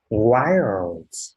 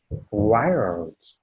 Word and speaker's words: wild: Wild. Wild.